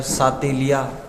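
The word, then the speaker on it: Chatelier: अब इसका प्रोनाउंसिएशन है चेटेलियर, सातेलिया, है ना, इस प्रकार से।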